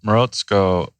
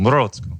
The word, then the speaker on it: Morozko: Yeah, so Morozko, which is the way I pronounce it, I haven't really heard very many Russians, write in and tell us. Yeah. Morozko. Sounds right. Yeah. I just try to say it with a Russian accent.